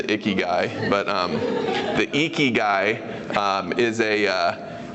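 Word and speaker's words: ikigai: we want to talk about is how to pronounce it right so it's eeky guy not not iy guy right I'm the iy guy but um the eky guy uh is a uh it's a Japanese term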